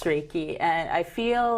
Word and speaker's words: Reiki: Reiki Master actually a Reiki although yes it's pronounced Reiki and I feel like I feel uncomfortable when